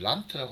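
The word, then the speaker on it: Land: 그 독일어로 이 주를 란트라고 합니다. D가 이제 트 발음이 나기 때문에 그래서 이 란트에서 표현을 할 때 주를 단위로 하는 국가 경찰 제도를 도입했다.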